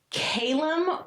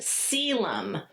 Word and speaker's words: Caelum: Caelum. Calum, or it can be pronounced Celum. I know. And this is, let's see what it says. It varies by the reader.